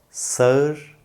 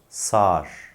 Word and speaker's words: sağır: kelimemize geldi 9 kelimemizde sağır olarak yazılan ama sağır olarak okunan yahut söylenen kelime yanlış telaffuz sağır doğru telaffuz Sağar Şimdi de bu kelime